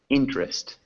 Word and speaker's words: interest: Technical technical good technical interest interest interest interest yeah that e is silent so if you look